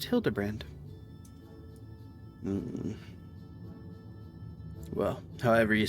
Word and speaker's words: Hildibrand: It's pronounced Hildebrand.